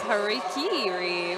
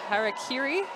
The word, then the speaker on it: Harakiri: it's going up against Hariri which is not how you say that name harakiri there we go that's